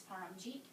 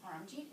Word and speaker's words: Paramjit: rais my hand and I would say no it's paramjit it is paramjit until they saw that